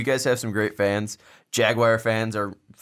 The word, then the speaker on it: Jaguar: we've gotten comments or how it's jaguar not jagwire it's a Jaguar what a I hope